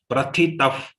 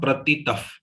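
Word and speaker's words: प्रथितः: Prathitah. Not pratitah. Okay. Normally pratitah. Mix happens between second and third letter. Remember, prathitah.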